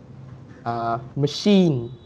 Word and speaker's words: machine: Machine.